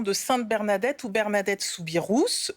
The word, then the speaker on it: Soubirous: Sainte Bernadette ou Bernadette souirous oui on prononce bien le S et oui par à